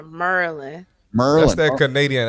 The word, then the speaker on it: Maryland: Keith, let me just tell you, don't say Maryland. No, it's Merlin. You got to say it like you from here, Merlin.